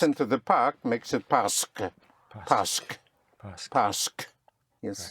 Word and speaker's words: parce que: In spelling, it's spelled P-A-R-C-E, Q-U-E in 2 words, parce que. Parce que. But in speaking, think of the S in the park, parce que.